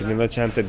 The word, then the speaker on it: Rinascente: Rinascente diye okunuyor ama hani size yazılışını söyleyeyim dedim.